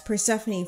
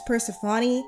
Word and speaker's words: Persephone: Also, I'm pronouncing this name as Persephone from now on. I was thinking of pronouncing it as Persephone, but apparently either way is right in the English language.